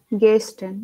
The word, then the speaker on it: Gästen: so Uh, how do you say air in, Gästen. you say air, right? In English, you have Yeah. air. Just say Hmm? air without R, and that's how you pronounce this one. Okay. Yeah, Gästen.